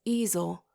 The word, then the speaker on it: easel: He says easel with a long E on the first syllable and a derisive sneer.